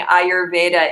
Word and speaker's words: Ayurveda: And the other thing I've noticed, a lot of people are pronouncing Ayurveda incorrectly. You can do it as 2 words. So it's Ayur and Veda, nature and knowledge.